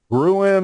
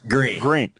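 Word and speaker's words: Gruene: Gruen or Green? How do you pronounce it? Green. Okay, Green. Yeah, so it's a name of German origin, so pronounced Green.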